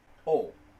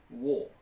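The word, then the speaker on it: を: Yes, this character is pronounced wo, as in W-O, but when it's a particle, it's pronounced o.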